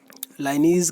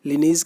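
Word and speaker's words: Linnaeus: इसको हम लाइनीज करके या लिनीज करके जो भी आप प्रोनाउंसिएशन करें आप कर सकते हैं, करेक्ट आंसर आपका पहला होगा।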